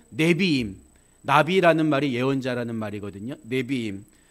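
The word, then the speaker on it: נביאים: 네비임, 니은 받침이죠.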